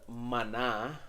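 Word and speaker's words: Maná: 1992 a band called Mana uh and don't forget the the ascento the accent on the last a Mana is it m-a-n-a-m-a-n-a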